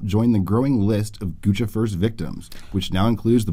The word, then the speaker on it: Guccifer: Guccifer, or Guccifer, as his name is actually pronounced. Gucci. Yeah, it's Gucci and Lucifer.